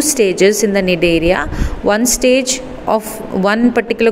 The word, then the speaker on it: Cnidaria: Okay, your C is silent, so it is called Cnidaria or Coelenterata.